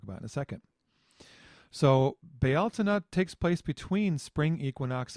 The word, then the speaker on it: Bealtaine: people recognize it as Bealtaine. I pronounce it Bealtaine because a friend of mine in Ireland pronounces it that way, and I just kind of like it.